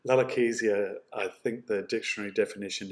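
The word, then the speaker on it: lalochezia: to is this word larakesia that's how it's pronounced it's from the greek lalo for language kizi means um and so language is uh is how you could say lalakesia i think the dictionary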